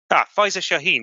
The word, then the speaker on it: Faiza Shaheen: I can't remember exactly how you pronounce her name. Actually, I'll just quickly Faiza Shaheen.